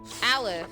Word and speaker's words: Aleph: Aleph, that's how you say his name.